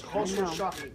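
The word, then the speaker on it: Khosrowshahi: That's how you pronounce Khosrow Shahi. Khosrow Shahi.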